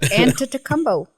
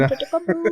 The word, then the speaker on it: Antetokounmpo: Antetokounmpo. Take it. Antetokounmpo.